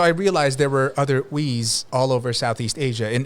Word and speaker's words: Uy: It's our Spanish heritage as Filipinos that dictates it as uy. So if some Filipino-Americans would say uwi, Oo nga, no? parang R&B singer, uwi! Ganun sila. Oo nga, no? Uwi yung pagpronounce nila.